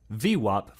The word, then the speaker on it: VWAP: the volume weighted average price or as it's pronounced V WAP for short well as the name implies it